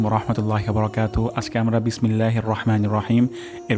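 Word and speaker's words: الرحمن: রহ হবে না রহ রহ এটা উচ্চারণের স্থান হলকের মাঝখান রহমা নির্ হবে না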